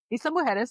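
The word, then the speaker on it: Isla Mujeres: Isa Mueris, that's how you pronounce it. The J is uh pronounced with an H.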